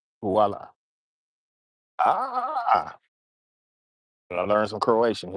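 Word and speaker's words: voilà: The H is silent. Okay. It's like voila. Like voila.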